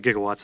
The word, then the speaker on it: gigawatts: it requires 1.21 gigs now it's actually gigawatts they mispronounced it in the movie so to make it